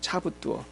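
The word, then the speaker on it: 差不多: 차부뚜어. 한번 따라해 볼까요? 차부뚜어. 이게 중국말이에요. 차부뚜어. 자, 사모님 발음해 보세요.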